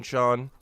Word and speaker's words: Sheen: Oh, Sheen is pronounced as Sean? I keep forgetting that. Yeah, Sheen, Sean.